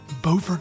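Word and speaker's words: Beaufort: about where she lives bord North Carolina which looks the same but is not pronounced the same as Buford South Carolina here's our conversation the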